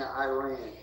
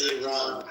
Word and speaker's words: Iran: Stop saying Iran. We ran. I don't even have to say it right now. I'm saying it. It's Iran.